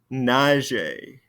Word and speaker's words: nager: Nager.